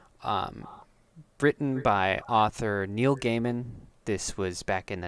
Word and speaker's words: Gaiman: written by author Neil Gaiman this was back in the 90s he's it's spelled James really Micah it's spelled g-a-i okay it's a guy man yeah man he's he's